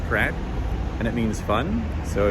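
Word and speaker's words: craic: there's an Irish word it's spelled c-r-a-i-c and they pronounce it crack and it means fun so if you're gonna have a bit of crack it means you're gonna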